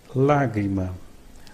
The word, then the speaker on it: lágrima: Note that when a syllable has this mark, it will be the tonic syllable of the word. Examples: lágrima, lágrima.